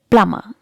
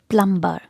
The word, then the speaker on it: plumber: the next word is plummer letter b is silent here and in british english letter r is also silent here so how will you pronounce it plummer not plumber or plumber it is plummer plummer plummer okay remember to keep